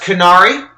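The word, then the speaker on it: Qunari: we have the uh is pronounced canari feared and envied for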